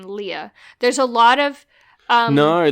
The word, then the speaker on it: Leia: the movie starts with layers Lea everyone calls it layer it's it's Lea it's clearly Lea are in the in